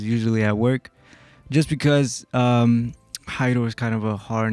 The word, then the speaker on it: Jairo: Well, if you're reading it, it's spelled Jairo, so some people say it as Giro.